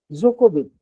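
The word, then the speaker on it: Djokovic: एक tennis player है Germany का जो है जोकोविच, नोवाक जोकोविच। अब नोवाक जोकोविच के जो स्पेलिंग में आप देखेंगे तो डी जो है से शुरू हो रहा है।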